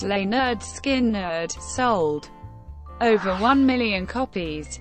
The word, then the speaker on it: Lynyrd Skynyrd: Released on August 13, 1973, the self-titled album with the subtitle "Pronounced Leh-nerd Skin-nerd" sold over one million copies, and was awarded a gold disc by the RIAA.